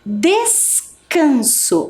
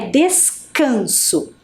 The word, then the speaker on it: descanso: aqui mais uma vez descanso Olha o valor do c né descanso e a última palavra